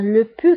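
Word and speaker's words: pus: ايضا le pu كنكتبوها ب s في اخر الكلمه ولكن لا تنطق le pu.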